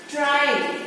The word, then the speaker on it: try: Try. See the spelling? R-Y, but still the pronunciation is I.